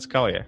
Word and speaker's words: Scalia: They call him Scalia, not Scalia. What's the difference there? Well, they're pronouncing it wrong.